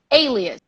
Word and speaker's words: alias: something completely different Portuguese so one might assume that the spelling or that the pronunciation is similar but it is not the pronunciation of this word which means actually like nickname is alias alias alias alias alias